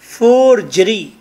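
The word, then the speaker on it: forgery: एंड it's pronunciation is फॉर्जरी, फॉर्जरी जीम की आवाज है, फॉर्जरी इसका मतलब होता है झूठ बोतान।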